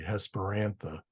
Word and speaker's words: Hesperantha: do it again hesperantha technically it would be hesper means evening and antha means flower so that's why I want to say hesperantha but again the rule of the third syllable is hesperantha um so anyway that's